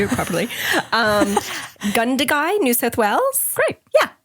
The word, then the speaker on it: Gundagai: Gundagai, New South Wales.